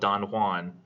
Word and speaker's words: Don Juan: Byron, when you get to Don Juan, by the way, I know it's spelled Don Juan, but he says it's supposed to be said Don Juan in the English fashion, and I think it's meant to make that more ridiculous.